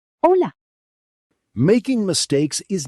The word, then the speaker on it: Hola: Hello. Silent H. Hola.